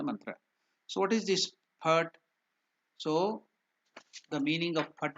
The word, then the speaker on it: Phat: Phat, the mantra. See, we have given that the mantra P-H-A-T, Phat. The pronunciation exactly. Sanskrit it is written as P and T, half T. So that is Phat, P-H-A-T, Phat.